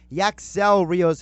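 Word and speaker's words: Yacksel Ríos: sound rock is the accent yeah accentuated syllable syllable gotcha well yaks elrios has been sent down the triple-a and they've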